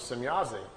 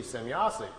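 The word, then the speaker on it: Semjase: He was trying to write it down phonetically how the name sounded to him. So he wrote it out, S-E-M-Y-A-S-E, Semyazi.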